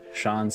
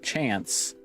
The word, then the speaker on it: Shans: football nickname Neil and Shan's again huh I don't have a chance the pronunciation of Shan's is the name same as shans like chance oh shance then chance